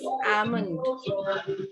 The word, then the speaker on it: almond: Yes, L is silent. And like this, almond.